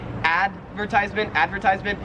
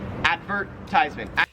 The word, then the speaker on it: advertisement: 31 is advertisement, and the difference is like which syllable you stress. So in American English, we would say advertisement, and in Australian English, you say advertisement.